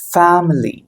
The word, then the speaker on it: family: ஸோ you have to give stress here. ஃபேமிலி. ஃப அப்படிங்கிறது stress கொடுக்கணும், மிலிங்கிறதுக்கு தேவையில்லை.